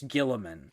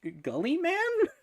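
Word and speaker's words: Guilliman: It's very funny to me to see people though who don't know how to pronounce Gilliman because they just see it. Oh, that's actually really pretty. They see it for the first time spelled in the game, and it's like Gully Man.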